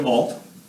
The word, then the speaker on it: ho: So, for the verb avere, the conjugation is the following: io ho with H, but we do not pronounce this H. The H has no sound in Italian, it's mute.